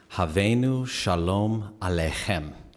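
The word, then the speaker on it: Hevenu Shalom Aleichem: some time um yeah this is how you pronounces havenu shalom alejem and the way it's set rhythmically pretty much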